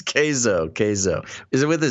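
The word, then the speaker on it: Keizo: spelled k-e-i-z-o uh but people are gonna mispronounce it and say kizo because you know k-e-i keith but it's uh it's kaizo pronounced k is o-k-a-y-z-o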